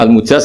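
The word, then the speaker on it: المجاز: sanad itu untuk al-mujaz, bacanya al-mujaz karena dari fi'il madhi ajaza.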